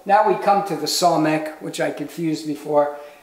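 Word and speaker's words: samekh: Okay, so now we come to the somek, which I confused before. This is an S sound, S, somek, somek.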